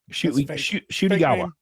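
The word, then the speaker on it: Ncuti Gatwa: did you just say shoy gwa shwa it's spelled NTI gwa but it's pronounced shwa and I only started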